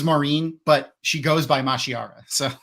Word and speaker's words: Mashiara: And those chapter titles are Mashiria. Mashiara.